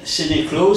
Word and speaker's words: Sénéclauze: Donc, alors, Sénéclot, ça se prononce comme ça, oui.